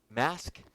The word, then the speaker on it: Masque: of 1933 at the Mask Theater. That's Masque. Probably didn't say that right. Later moving, and astonishingly, it ran for 3,000. Mask, yes. I said it right.